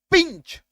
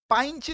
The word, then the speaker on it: pinch: ये देखो PINCH, आई है, आई के इधर व्यंजन, आई के इधर व्यंजन, तो आई का उच्चारण ई हो जाएगा, पिंच, पाइंच नहीं, पिंच, ठीक है, क्लियर है।